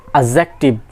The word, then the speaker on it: adjective: the correct pronunciation is adjective remember it d will be silent so behind being plus